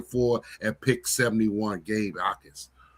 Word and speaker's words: Ikard: Gabe Ikard. Ikard, the J is silent.